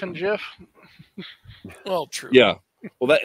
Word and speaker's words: GIF: interesting case because the the creator of the GIF is just wrong because he says GIF he says GIF but it's it's the graphics image format yeah yeah well that